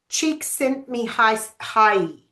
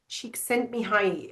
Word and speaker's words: Csikszentmihalyi: And then we've got in the late 1900s, okay, this is how I believe you pronounce this name, Mihai Csikszentmihalyi. Csikszentmihalyi.